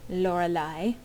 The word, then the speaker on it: Lorelai: By the way, that is how that's pronounced. Lorelai.